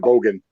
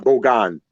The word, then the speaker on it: Bogan: So I always pronounce it Bogan, but Bogan. Okay. Thank you for correcting me.